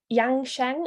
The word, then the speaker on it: Yang Sheng: And Corinne is a former nurse, but her new passion is Yang Sheng. Am I pronouncing that right?